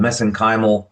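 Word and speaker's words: mesenchymal: to donate uh uh what are called messenymal stem cells. That's how they pronounce it in Ireland anyway.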